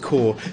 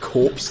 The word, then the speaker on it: Corps: game corps is pronounced core that's right it is it is pronounced core because it's like hardcore i always call it corpse though like corporate you